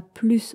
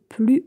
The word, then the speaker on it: plus: Dans ce cas-là, on ne prononce pas le S. On ne dit pas plus on se focalise, mais on dit plus on se focalise.